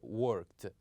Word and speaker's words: worked: But with this one, we pronounce it as one syllable and we said that worked, worked.